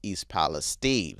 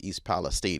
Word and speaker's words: East Palestine: So in Spanish or in French, it would probably be pronounced East Palestine.